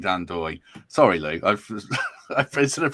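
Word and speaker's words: Ndoye: No, what I was doing is trying to work out how to pronounce. Yeah. And he did say Dan Doy.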